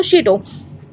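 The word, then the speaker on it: château: Caught in a frenzy of fair, peasants in several districts seize hoes and pitchforks and attack शीटो, ठीक है, इसको pronounce करते हैं वर्ड को शीटो।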